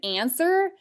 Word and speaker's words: answer: others can you recall technically the word answer fits the same spelling pattern as a silent w so i would just